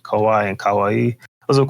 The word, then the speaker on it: kawaii: Joe, you said kawaii and It's kawaii. And kawaii, yeah. Chimpeg, you said kawaii and Kawaii. kawi. Kawaii. Kawi? Kawaii. And Mace, after Google searches, I found that you said kawaii and kawaii.